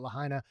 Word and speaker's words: Lahaina: I think that's how you say it, Lahaina.